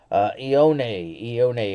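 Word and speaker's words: Ioane: Ione is how you say his last name.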